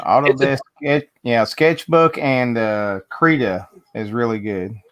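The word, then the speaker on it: Krita: it's not yeah autodesk yeah sketchbook and uh creda is really good creta let me write this down how do you spell it k-r-i-t-a i believe freedom yeah something of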